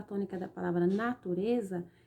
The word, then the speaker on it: natureza: sílaba tônica da palavra natureza é o rs na turnê esse lei aí ó ela é classificada em uma palavra paroxítona por quê porque a sílaba tônica está em penúltimo lugar ó natureza usar não